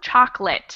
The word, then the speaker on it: chocolate: We do not say that middle O. Chocolate instead of chocolate.